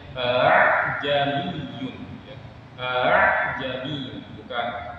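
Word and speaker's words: أأعجمي: Jadi hamzah yang kedua itu bacanya enggak jelas, atau di sini sebenarnya memiringkan bunyi hamzah yang kedua ya. Bunyinya a'ajami ya. A'ajami. Jadi jangan bacanya a'ajamiyun. Kalau bacanya a'ajamiyun itu salah. Atau dibaca panjang jami itu juga salah. Yang benar hamzah yang kedua itu dimiringkan jami.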